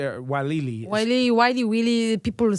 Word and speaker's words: Weili: Weili.